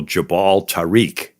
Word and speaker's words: Jabal Tariq: So Jabal Tariq. So over the years, Jabal Tariq got pronounced Gibraltar. Oh, all right.